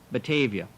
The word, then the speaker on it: Batavia: later to be given a name from the Dutch language meaning fair meadows and pronounced Batavia.